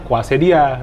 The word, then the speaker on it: quesadilla: isiannya sikwate dia dulu nih tulisannya cuesadilla Tapi bacanya kuase dia gitu kan Hai Mbak minyak